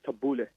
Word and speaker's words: tabbouleh: So whenever, just like how you said, you had the tabbouleh, or excuse me, the Arabic pronunciation is tabbouleh.